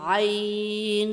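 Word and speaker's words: ع: আইন আইন হরফটি গলার ভিতরে হালকা চাপ দিয়ে উচ্চারণ করতে হবে। আইন আইন আইন আইন গাইন গাইন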